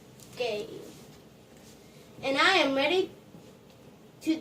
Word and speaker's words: gi: It's pronounced gi.